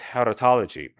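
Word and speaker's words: charitology: In English the proper pronunciation, in spite of what everybody says, is haritology. Haris from the Greek to mean grace.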